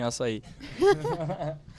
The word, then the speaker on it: açaí: As a Brazilian, thank you for liking açaí. And pronouncing it correctly too.